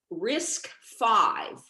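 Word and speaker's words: RISC-V: uh from you guys risk five which uh if you just hear it you won't know how it's spelled it's spelled risc hyphen v um what is that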